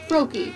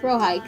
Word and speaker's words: Frohike: There's Langley, Briars, and of course, Froki. He's your favorite. Dear sweet Froki. Oh, Frohike, sorry. How you adore him. I'm just gonna call him Froki. Because I mispronounced it like twice.